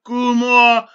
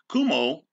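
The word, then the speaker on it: Cuomo: course this is Governor Kumo Kumo uh that's how you pronounce his name signning legislation to as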